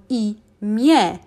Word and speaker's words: imię: As you can see, we have the special Polish letter N, but we don't pronounce it. Whenever it's at the end of the word, we just pronounce it as normal E. So imię is how we pronounce it, not imię.